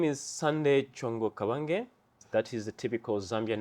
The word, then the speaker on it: Sanday Chongo Kabange: Sanday, would you introduce yourself because I have problem pronouncing your surname? Absolutely. Thank you very much for having me. So my name is Sanday Chongo Kabange.